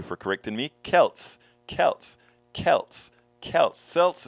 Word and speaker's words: Celts: i like alberto willis celts is pronounced with the k celts forgive me please didn't